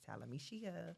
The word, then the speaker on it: Talameshia: It's Talameshia. Talameshia. You gotta say it like that so you can remember it.